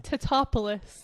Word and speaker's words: Tatopoulos: Tatopoulos. Patrick Tatopoulos.